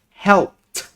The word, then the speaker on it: helped: can you see that so every word that uh the last letter of the word ends with t p k s or f or sometimes will be pronounced as when we add id for example helped right so we see that the word help has the last uh letter is p so when we add ed we will be print it will be pronounced as helped helped yeah good so another